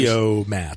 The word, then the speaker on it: Fotomat: F-O-T-O-Mat. Fotomat. Streamlined pronunciation was very big in America.